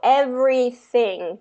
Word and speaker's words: everything: Okay, so then that TH sound, I heard more of a T. So everything.